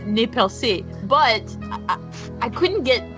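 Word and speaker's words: Nez Perce: so they pronounced it nez purse and i know that's probably how most people pronounce it but it's a french word so you know in french i was like no it's properly pronounced nepelsi but i i couldn't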